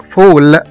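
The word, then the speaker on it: fall: مثلا كمان زي كلمة بول، B-A-L-L، كرة، هنا نطقنا حرف الـ A كأنه حرف O، بول. مثلا كمان زي كلمة فول، F-A-L-L، اللي هي يسقط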